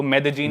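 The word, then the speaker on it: Medellín: एक सिटी है मेदजीन स्पेलिंग में उसमें डबल एल आता है मेदलीन होता है लेकिन कोलंबियन स्पैनिश में ल को ज बोलते हैं तो मेदजीन वो शायद उसकी मेन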